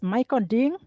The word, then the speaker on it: Michael Ding: So his correct name is pronounced as Michael Ding?